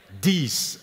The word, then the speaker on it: dix: On écrit 10 avec un X qu'on prononce S, alors qu'on écrit une dizaine avec un Z.